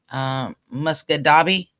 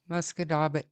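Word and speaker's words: Musquodoboit: Muscadabi, is that how it's pronounced? Muscadabbit. Muscadabbit, okay.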